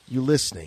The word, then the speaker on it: Ulickney: It's a soft C. It is a soft C, not a hard C. Ulickney.